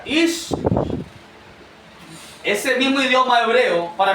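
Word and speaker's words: אִישׁ: Porque el mismo idioma, hermano, hebreo, que Adán se pronuncia Ish, ese mismo idioma hebreo, para mencionar el nombre de Eva, se pronuncia Isha.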